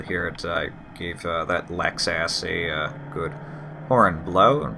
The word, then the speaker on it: Lexus: I gave that Lexus a good horn blow, a perfect example of why I hate Lexus drivers. And as you noticed, yes, I'm pronouncing it Lex-ass. I'm very well aware that it's Lexus.